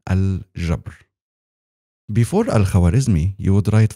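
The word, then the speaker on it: الجبر: Algebra is an Arabic word, by the way. It is pronounced correctly as al-jabr.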